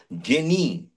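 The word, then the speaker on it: genii: লোক হয়েছে আরেকটা লেখো জেনি জি ই N double I জি ই N double I জেনি বলবো না একটু উচ্চারণটা হবে জিনি জি ই এন ডাবল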